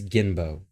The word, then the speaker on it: Jinbo: bow all right so his name is jinbo in english and in danish it's gimbo but since i'm english i'm gonna pronounce it jinbo all right so jimbo